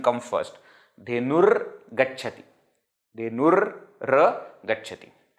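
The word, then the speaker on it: धेनुर्गच्छति: Dhenur gacchati. So though it is written like this, don't pronounce ga first and ra later. No, ra first, ga later.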